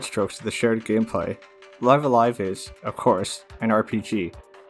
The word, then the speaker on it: Live A Live: outside of a fan translation and yes it's pronounced live alive the katakana is on the original box so